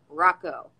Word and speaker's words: Hracho: what it looks yeah my last name pronounced rocco anyway how you doing